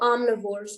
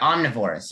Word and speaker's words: omnivorous: word for me how how i know omnivores i'm divorced yeah omnivorous yes that's correct carly so as you see this a with two dots is the ah and then arm neverest